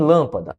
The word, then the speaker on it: lâmpada: Em, por exemplo, texto foi em lâmpada. Opa, e lâmpada ficou faltando só cinha aqui. Calma. E foi. Em lâmpada, o que é que nós temos? Lâmpada, a sílaba tônica é a antepenúltima.